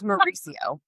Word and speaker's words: Mauricio: It's Mauricio. Like Mario.